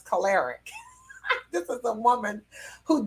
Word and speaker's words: choleric: explain to her that the word is not colorant but it's caloric this is a woman